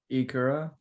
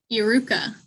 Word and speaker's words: Iruka: Ikura. Nope. Iruka.